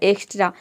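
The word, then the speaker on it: extra: आपका कॉन्सोनेंट हो गया इसलिए हम यहां पे x को आधा का और प्रोनाउंस कर रहे टी आर ए ये हो जाएगा ट्रा पूरा हो जाएगा एक्स्ट्रा एक्स्ट्रा का मतलब होता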